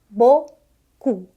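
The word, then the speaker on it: beaucoup: isso de letra gente Mas é só esse sonzinho só dois sonzinhos bo cu bocu bocu P em final de frase de palavra não é lido com exceções mas de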